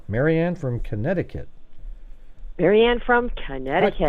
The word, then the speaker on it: Connecticut: from Connecticut maranne from Connecticut how come nobody ever says Connecticut how it's spelled though you know it's like uh you know wouldn't you say Connecticut or something you know or I